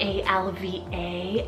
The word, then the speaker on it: Alva: well and Sully means dark eyes Alva salt a-l-v-a Alva this one's a gorgeous English from Irish